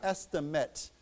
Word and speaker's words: estimate: So we say estimate. Okay. So we don't pronounce that long a.